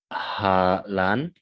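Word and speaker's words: Hà Lan: I think that's Halan.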